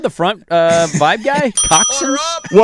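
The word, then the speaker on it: coxinha: Coxins. Well, on a uh coxin here. You have plate of coxin. Well, if you see how it's spelled, you'll never guess that.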